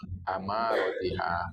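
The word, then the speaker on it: أمارتها: Amaratiha, a. Jadi membacanya fathah.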